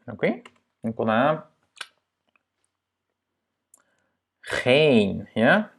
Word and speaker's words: geen: Donc, on a geen, ja? Doublement de voyelle, donc c'est un E long.